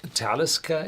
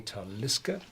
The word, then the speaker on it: Talisker: the chat uh that it's talisca it's a Nordic name yes and it's pronounced talisca all the gallic words they are to 99 pronounced on this second syllable so if you pronounce it in the gallic way you would say taliska but this is an Arctic name so you say talisca and then there was